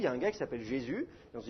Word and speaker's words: Jésus: ça fait jésus ce et puis d'ailleurs on prononce mais plus le s final on dit jésus vous met donc en fait jésus c'est pas